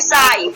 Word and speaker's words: sigh: Word है और इसको हम क्या करते हैं प्रोनाउंसिएशन नहीं करते। उसके बाद देखिए साई, ठीक है, SIGH, इसमें भी GH आया तो ये भी आपका क्या है साइलेंट है। अब इसको सिंग नहीं पढ़ेंगे, ठीक है, सिंग नहीं प्रोनाउंसिएशन कर